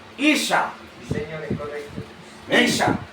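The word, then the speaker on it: Isha: Porque el mismo idioma, hermano, hebreo, que Adán se pronuncia, ese mismo idioma hebreo, para mencionar el nombre de Eva, se pronuncia Isa.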